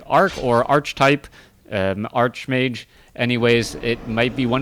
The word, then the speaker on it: Archmage: I see her arced it's pronounced like arc in archetype I've heard archetype like arc as in like art or archetype an Archmage anyways it might be